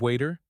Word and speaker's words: water: Can I have a glass of water? Right. Can I have a glass of water? Fix. The T in water is often pronounced as a soft D in American English.